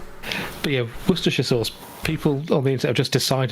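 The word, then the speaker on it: Worcestershire: So they just you say the war it's very easy to pronounce just it's got nothing to do with the letters. The warestester bit is just wor if you say shia you know it's not great. We pronounce it either sh or she.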